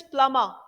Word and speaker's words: plumber: The plumber, right pronunciation is plumber. ब का sound नहीं आएगा इसमें.